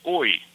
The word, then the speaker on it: oi: We can use oi. It's a simple one. It's spelled O-I.